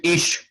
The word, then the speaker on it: ich: Yeah, ich. Ich. Actually, ich, but Freud will pronounce it ich. Okay. Ich. Because of his Viennese origin.